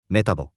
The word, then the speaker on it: メタボ: we can use it as is, but we usually shorten it to メタボ。 Japanese people have a habit of abbreviating words using the first syllable.